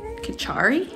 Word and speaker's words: kitchari: before it's called katari kichari k i t c h a r y that's how i spell it and that's how i pronounce it so i have some